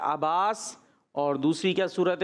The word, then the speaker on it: अब्बास: और अब्बास ठीक है, अब्बास ही प्रोनाउंसिएशन ठीक है।